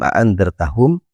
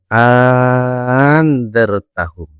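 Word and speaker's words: أأنذرتهم: Nomor pertama adalah bitahqikil hamzataini. Yaitu dengan membaca jelas kedua hamzah yaitu dengan cara membaca a aa aandartahu. Jadi kedua hamzahnya dibaca jelas atau dibaca tahkik. Yang kedua adalah yaitu wa ibdilani alifan yaitu mengganti hamzah yang kedua menjadi alif. Cara bacanya adalah anartaahum.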